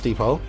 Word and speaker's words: depot: get to a large Depot it's funny how you don't pronounce the T in there within the Deep deep